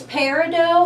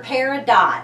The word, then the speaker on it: peridot: it i pronounce it peridot because i come from a background with french canadian and so lots of times our t's are silent but i know peridot is a perfectly correct